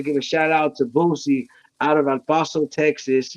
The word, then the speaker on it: Bouzzie: It's Bouzzie in the building. Bouzzie. That's how you pronounce my name.